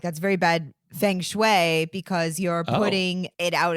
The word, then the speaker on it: feng shui: So if you want to follow the principles of feng shui, then you could certainly do it this way. Yeah, and if you want to pronounce it correctly, listen to the way Nick says it.